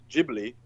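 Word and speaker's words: Ghibli: from the Italian noun gibli also used. And I think it's pronounced Gibli in Italian as well with the like the J like a kind of like Arabic J.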